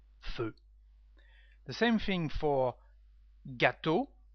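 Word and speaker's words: feux: We say feu with an additional X, but no the same pronunciation, feu.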